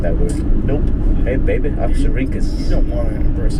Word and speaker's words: Oxyrhynchus: Oxyrhynchus. It's Greek. Interesting. Oxyrhynchus. Oh, wow. Do you think you could impress like a scholar type girl with that word? Nope. Hey, baby, Oxyrhynchus.